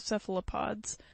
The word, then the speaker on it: cephalopod: them the name of cephalopods from the greek kefali head and puss foot pronounced cephalopod the trunk of these